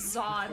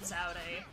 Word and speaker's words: Zaude: That they start pronouncing it as Zod when earlier in it they were calling it Zaude or something like that. And I'm like, which one is correct?